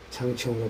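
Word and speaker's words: 长城: 중국어로는 창청으로 발음되고 있습니다.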